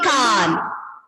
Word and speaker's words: Cannes: And the pronunciation will be Cannes.